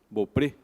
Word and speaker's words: Beaupré: Mas, por parte de pai, eu sou Beaupré. E Beaupré, por mais que a grafia e a pronúncia seja francesa, originalmente o meu nome, o meu sobrenome familiar se escreveria B-E-A-U-P-R-E, Beaupré, que quer dizer Campo Belo, Belo Prado.